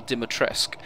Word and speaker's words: Dimitrescu: Moving outside the village, there are a number of other locations to visit, including Castle Dimitrescu. Yes, that's how it's said throughout the game.